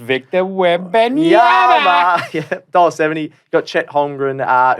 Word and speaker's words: Wembanyama: pronounced Victor Wembanyama.